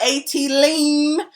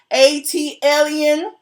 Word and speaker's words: ATLien: Next time y'all tell Andy Cohen to learn how to pronounce ATLien, not ATLean, ATLien.